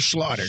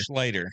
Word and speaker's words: Schlatter: You know, is it Schlater or Slaughter? Slater.